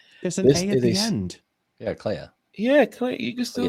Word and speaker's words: Clea: It is pronounced Clea according to the internet.